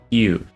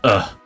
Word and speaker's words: Hugh: It's not pronounced Hugh. It looks like Hugh, right? But it's pronounced differently. And I'm gonna spell it how it's pronounced so that you don't mess it up. It's just so everyone can get it right. It's ugh.